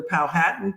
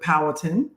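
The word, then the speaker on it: Powhatan: Richmond Virginia which is the land of the palh hatan people uh oftentimes you hear people pronounce it palatin um but um so we think it's important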